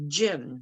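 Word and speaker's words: Ginn: sista that's s-i-s-t-a my last name is actually gin g-i-n-n say it like the drink and i would love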